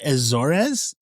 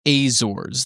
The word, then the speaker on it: Azores: S was found drifting in abandoned in 1872 near the Azores. Is that right? The I think I think it's pronounced Azors. That's how we pronounced it during the show when we did it.